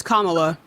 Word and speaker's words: Kamala: It's Kamala. Where are you from? I'm from northeastern India. Right, so you're from fucking India. You should be able to say her name. It's Kamala Harris, man.